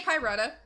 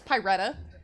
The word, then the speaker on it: Pyretta: good at pronouncing it just say pyrata or pie yeah but yeah it's pyretta yes the color of fire okay let me taste